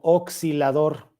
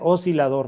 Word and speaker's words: oscilador: aquí o sea esta pronunciarla como oscilador eso es incorrecto eso es un oscilador así como si tuviera una s nada más se dice oscilador nada más okay Bueno entonces tengo